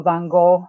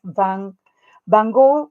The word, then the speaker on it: Van Gogh: Vincent Van Gogh, we say that in North America, but the pronunciation in Dutch is Van Gogh. I think I'm pronouncing that okay.